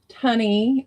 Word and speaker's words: Tunney: So Susan Tunney is how you pronounce it, but she's Tooney to me.